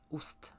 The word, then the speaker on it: ost: jest fajnie sobie poćwiczyć ust dlatego że tutaj wymowa jest ważna i to jest są takie małe u i a ust to normalne polskie ust i ten wymawiamy ten dźwięk na początku wymawiamy tak że języki jest za zębami dotyka zębów dolnych i robimy taką mały dziubek i taką minę troszeczkę